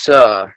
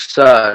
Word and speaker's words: Suh: It's pronounced Chaffetz, and it's Suh, like Suh, dude.